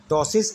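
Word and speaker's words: ptosis: A मेयोसिस, B टॉसिस, यहाँ पे P silent है इसलिए टॉसिस पढ़ते हैं इसे हम, C हाइपोहाइड्रोसिस, D आर्थराइटिस।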